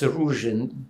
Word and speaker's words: Ruzhyn: INT: And where in-- Ruzhyn is that how you pronounce it? EV: Yes, Ruzhyn.